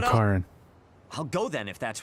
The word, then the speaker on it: Karen: Karen. That's how you say his name, Karen.